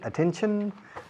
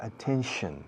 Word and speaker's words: attention: Pay attention to me. Y fijaos un momento antes de ir a la cámara número 1. Attention. Los españoles pronunciáis mal, decís siempre attention, attention, no. Es chan chan, attention, attend, como si yo